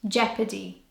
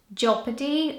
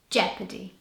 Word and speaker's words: jeopardy: this word has a silent oh so it's pronounced jeopardy not japa T or jeopardy jeopardy number 13 this is one of the words